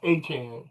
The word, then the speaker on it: Etienne: Travis Etienne E- E- Etienne He he says it's pronounced Etienne. Travis Etienne.